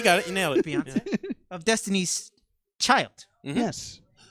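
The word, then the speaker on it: Beyoncé: That is how you pronounce it, right? No, you got it. You nailed it. Beyonce.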